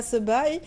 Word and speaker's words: Sebaï: Merci beaucoup, Sebaï. Comment on prononce Sebaï?